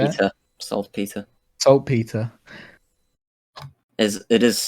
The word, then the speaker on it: saltpetre: Do you have any sulfur or trace phosphor or saltpetre? Is that how you say it? Peter. Saltpeter.